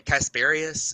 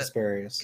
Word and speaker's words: Casparius: Casparius? Is that it? Kasparius. Yeah, Casparius.